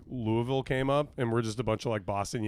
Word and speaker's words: Louisville: You really just don't don't say any of the middle. Just say an L and then hang out for a while and then you have to say it like you have a lot of biscuits and gravy you're currently trying to eat in your mouth.